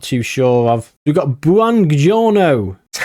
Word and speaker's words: Buongiorno: We've got Buongiorno. That's how you pronounce it.